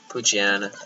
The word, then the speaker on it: Poochyena: Poochyena. That's how you pronounce it, his name. I think it's like Poochyena.